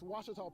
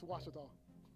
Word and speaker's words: Ouachita: Wichita but really it's Ouachita Washington how would you pronounce it Ouachita it's Ouachita Baptist University get it right it's Ouachita people it's Ouachita thank you thank you